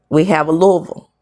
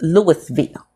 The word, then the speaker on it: Louisville: We have a Louisville, and it's pronounced Louisville. Shout out to me. Okay, it's not pronounced Louisville here. It's not pronounced. It's the word is pronounced Louis because it's named after a man named Louis.